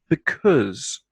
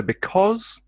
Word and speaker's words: because: the au in because the second vowel sound that can be pronounced like the o the vowel sound in log o because oz o